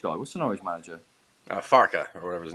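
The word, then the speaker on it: Farke: Farka or whatever his name is. Yeah, pronounce it properly. Farka.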